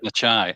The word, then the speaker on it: Necciai: This morning I read the chapter about Ron Necciai. Am I pronouncing that right? That's right. Necciai.